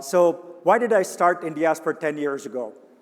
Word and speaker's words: Indiaspora: right some people say in diaspora some people some people say india spora some people say in diaspora that's the way i say it and this was cooked